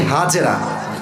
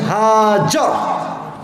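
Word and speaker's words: হাজার: নাম কি বলেন সবাই আমরা বলি বিবি হাজেরা এটা সঠিক উচ্চারণ না আরবি উচ্চারণ হচ্ছে বিবি হাজতো উনি যখন তাদের সবাইকে মর পরময় আরব নগরের মক্কার এক বিশাল মরুভূমিতে রেখে আসলেন।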